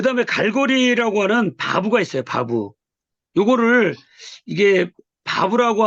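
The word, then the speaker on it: ו: 이게 바부예요. 바부. 바부라고 했을 때 요 글씨가 뭡니까? 또 비읍 부로 발음되죠. 근데 우리 와우라고 하기도 하기 때문에 이게 우 발음도 돼요. 우 발음도. 같이 요거 알고 있어야 돼요.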